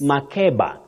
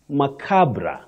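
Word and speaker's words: macabre: you might have heard some people saying yes Maba innocently saying Maba because sometimes what we use as the pronunciation when we gu our what now bet this word you say makabra makabra not MAA not maab makabra okay that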